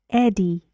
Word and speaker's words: Eddie: It's a name. Eddie. Eddie. 2. Good. And the stress goes on the first syllable.